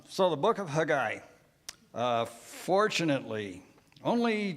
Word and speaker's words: Haggai: this particular book is it's not Haggai, it's Haggai, okay? All right, so you'll hear me pronounce it today, Haggai, not Haggai, but most of us probably grew up calling it Haggai, didn't we?